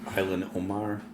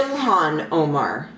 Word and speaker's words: Ilhan Omar: that name sounded familiar uh how do you pronounce that Island Omar of minesa Al Alan Omar yeah I like her okay she's running for